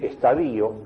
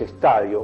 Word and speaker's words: estadio: los médicos pronuncian mal como es decir estadío una palabra que no existe en castellano que es estadio o etapa o decir por ejemplo